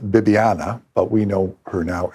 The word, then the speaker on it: Bibiana: behind it well the saint original name is pronounced bibiana but we know her now as saint vivian